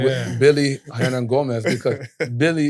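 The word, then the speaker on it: Willy: With Billy Hernan Gomez, because Billy, it was spelled W-I-L-L-Y. We call him Billy. It's not Willie.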